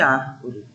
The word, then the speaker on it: árvore: E na terceira palavra, a gente tem uma sílaba destacada, que é ar, não é isso?